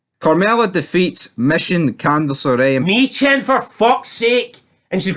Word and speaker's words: Michin: Her name's Michin, not Mission. Where the fuck are you getting Mission for that? You doted fucking bastard. Where's Mission from that? It's Michin.